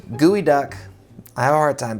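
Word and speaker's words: geoduck: too in the episode it's apparently pronounced gooey duck I have a hard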